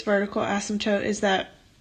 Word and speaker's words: asymptotes: so now what the heck is a vertical asymptote so asymptotes that's how you say it people always